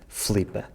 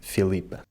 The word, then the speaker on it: Filipa: rest of the country we tend to say Flipa, cutting out the unstressed I. In Madeira and the Azores, in addition to cutting out the I, they also change the sound of the L again, saying Flhipa instead of Filipa.